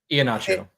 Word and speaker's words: Iheanacho: Iheanacho. Iheanacho? Yep. Sure. Only because I Iheanacho? know some soccer players with that last name, and that's how it's pronounced by them.